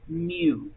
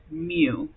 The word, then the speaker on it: mu: mean is represented by the lowercase Greek letter mu that's how you pronounce that kind of looks like a cursive U with a little tail at the beginning and it's pronounced mu it is found by adding all the population